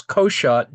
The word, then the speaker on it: Cockshott: Um, I pronounce uh as uh uh as Koshot just simply because otherwise people giggle too much. Um although I think it is Kakshot uh as if there were a U there or something.